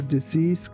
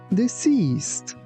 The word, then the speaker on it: deceased: We visited the graves of our deceased grandparents. Please be careful that letter C here sounds like, not C. That's why we say deceased.